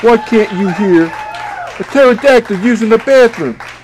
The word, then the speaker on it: pterodactyl: can't you hear the pterodactyl using the bathroom because the pee is silent get it the pee